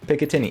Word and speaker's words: Picatinny: A Picatinny? Picatinny.